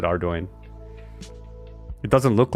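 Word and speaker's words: Ardougne: at least in my own head, it was Ardugny cuz I had no idea how to pronounce it, but then I saw the devs pronounce it on the things and they said Ardoin.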